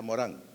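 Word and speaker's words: Morin: ciudadano Planetario no entonces Edgar Morán se escribe Edgar Morín pero como es francés se le pronuncia a Morán No pero si usted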